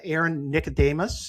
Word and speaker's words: Aaron Nicodemus: And uh I want to thank uh Aaron Nicodemus. Is that how I how you pronounce it, Aaron?